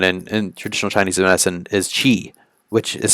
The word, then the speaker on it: qi: also pretty common in traditional Chinese medicine is qi, which is spelled Qi, which is the central life energy,